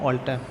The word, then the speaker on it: alter: अब अल्टर नहीं बोलेंगे इसको, अब हमने पढ़ लिया, इसका उच्चारण नहीं पढ़ लिया था, हम इसको बोलेंगे ऑल्टर।